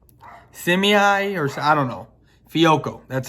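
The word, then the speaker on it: Fehoko: And then you have, now, maybe I was saying Suafilo because I couldn't even pronounce his first name. Simi, or I don't know. Fiocco. That's Fiocco.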